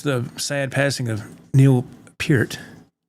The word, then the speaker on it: Peart: And so, and then, of course, the sad passing of Neil Peart. I said Peart for years, but I believe it's pronounced Peart.